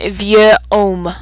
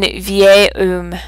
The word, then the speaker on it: vieil: Pour vieux, beau et belle, beau et nouveau, on a une forme pour le masculin singulier avant une voyelle pour la prononciation. It just doesn't sound right if I say un vieux homme. It sounds a little choppy. Un vieil homme.